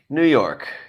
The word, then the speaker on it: Ngakoue: It is Yannick, confirmed by JJ Stankovitz. JJ Stankovitz, the PA voice. It's just like an anchorman. Yannick, New York.